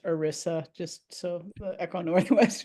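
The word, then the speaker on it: ERISA: It's pronounced Orisa.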